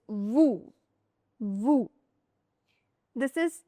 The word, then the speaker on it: vous: Last letter S is silent. vous It's not vous. It's vous.